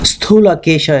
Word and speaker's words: Sthulakesha: Okay, so this is another character called Sthulakesha. I think that's how it's pronounced. Sthulakesha is the pronunciation of that person, who was a religious